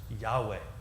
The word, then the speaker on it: Yahweh: in the Bible and that Ebru word that famous word is pronounced in English you got way and it's often translated